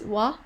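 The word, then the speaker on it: は: did you remember that when the ha ha is in between words and word it so it could eat it sound pronounced as wah and could have totally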